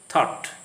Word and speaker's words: thought: The GH sound is silent after a vowel sound in a word, as in the following words: night, wait, daughter, thought. So in the following words, night, there is no GH sound.